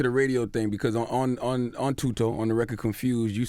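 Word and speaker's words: Thuto: Tuto? Yeah. I pronounced it right? Yeah, Tuto. You actually did.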